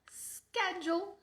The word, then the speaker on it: schedule: E aí, no meio dessa prolongada, você vai mudar de ideia e em vez de pronunciar assim, você vai pronunciar schedule, Dessa forma, o seu